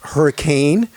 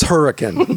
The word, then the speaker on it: Hurricane: of you who are not local it's not pronounced hurricane it's her it's hurricane so you gotta say it the right way